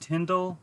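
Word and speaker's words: Tyndale: Like, I know it's pronounced Tyndall, but I can't remember how it's actually spelled.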